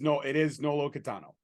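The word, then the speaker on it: Nolo Kitano: And you said it right, by the way. It is Nolo Catano.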